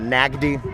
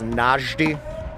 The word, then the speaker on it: Najdi: It is not Nagdi, it is Najdi. It's a soft G. It is Egyptian.